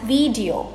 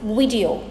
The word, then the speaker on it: video: us pronounce this as video but it is not e it is i both the i and the e syllables in this word are pronounced as short i sounds it's video video i hope you